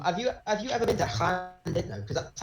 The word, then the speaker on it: Llandudno: It's Llandudno. Say that again. Llandudno, not Llandudno. It's Llandudno. Llandudno? Okay. I don't understand, but it's spelled Llandud. Yeah, double L's are Welsh.